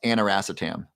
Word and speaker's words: aniracetam: You're gonna start taking lion's mane, B complex curcumin, and it's pronounced aniracetam, ANIRACETAM.